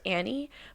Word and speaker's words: Anne: Actually, she prefers Annie, but my understanding is she went by Anne at like 17 because it sounded more professional, but really Anne. It's pronounced Annie, but no one ever calls her that.